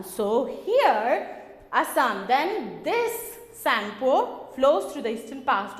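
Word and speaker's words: Tsangpo: T-S-A-N-G-P-O, where T is silent here. We should not pronounce T.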